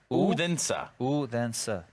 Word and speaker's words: Odense: You've forgotten how to pronounce it after the first week. Ready? Like with me. Odense.